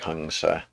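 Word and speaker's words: हंस: So it becomes hungsa, and the M should probably be pronounced as an NG properly, more like hungsa.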